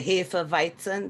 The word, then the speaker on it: Hefeweizen: Now, if you drink the we say Hefeweizen, that's the way you pronounce it.